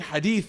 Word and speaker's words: Hadith: know what the dead giveaway is when they mispronounce things so instead of saying Hadith they're like in thisth and I'm like see